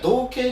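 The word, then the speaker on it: 憧憬: んだそうでこれを 2人は小計って呼んでて同じ意味なんですけどかなり小学世界には同形って読まあ確かにうんうんそうなのよそうこにはね同って読んでくれとこれはえっとなんて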